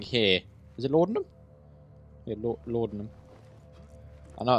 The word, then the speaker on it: laudanum: Yeah, laudanum. I know it's pronounced like that in case any of you are thinking, why does it keep pronouncing Leidenidum and Ludinidum and stuff?